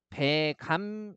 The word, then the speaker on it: 백암: 뭐에 따라 적는다고 했어요 표준 발음에 따라서 그래서 배감 이렇게 발음하고요 발음 봤더니 배했을 때